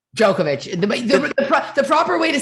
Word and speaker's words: Djokovic: like uh what's the tennis player's last name djokovic the proper way to say it in that part of the world is yokovic yeah like there's like a play with that